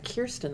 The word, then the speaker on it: Kjerstin: But I don't like, it's not that I don't like the name Kirsten, but if I name my daughter Kirsten, I want them to pronounce it that way.